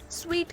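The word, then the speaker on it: suite: इस सूट करते हैं सूट तो पहनने वाला होता है इसे हम स्वीट कहते हैं कि साइड रिएक्शन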